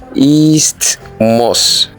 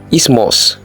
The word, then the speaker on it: isthmus: Do you say isthmus? It is wrong. It is simply isthmus.